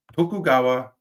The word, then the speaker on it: Tokugawa: Moving on, we have Tokugawa is how you say that.